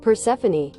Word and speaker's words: Persephone: Am I saying it wrong? Hold on, let me go. Persephone. Persephone. Persephone. Damn, I really butchered it. Persephone. Let's go to American. Persephone. Persephone. All right, awesome.